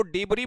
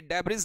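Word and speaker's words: debris: इसको डिब्री बोला जाता है भाई। डेबिज नहीं बोला जाता है।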